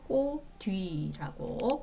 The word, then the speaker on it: 꽃 위: 후 연음화 발음하는 거예요 꽃 위에서는 꽃 위라고 발음하는게 아니고 꽃이라고 그죠 치을 어떻게 실질 형태소와 결합해서 디귿 발음으로 바뀐 다음에 실질 형태소의 디귿 발음이 연음이 되어서 뒤라고 꼬 뒤라고 발음이 되는 겁니다 고 뒤 이해하셨죠음 자